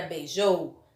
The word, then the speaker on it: beijou: Portanto, dizemos que o jou é a sílaba tônica da palavra.